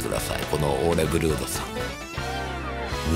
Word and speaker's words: Ole Børud: みてくださいこのオーレブルードさんなあブルードオーレブルードブルードオーレブルードって読むんですなんかノルウェ語なんで王にこう斜めに線が入ってん